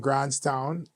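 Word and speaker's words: Grants Town: We don't pronounce the S for some reason.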